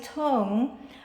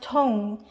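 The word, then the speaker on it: Tung: is tong but um my last name is uh pronounced tone for asians but living in the united states we call ourselves people just call me tong t-u-n-g because that's that's the american way and i don't i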